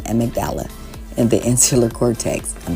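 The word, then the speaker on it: amygdala: cortex all right guys it's at magdala I just when Googled the pronunciation em magdala in the insular cortex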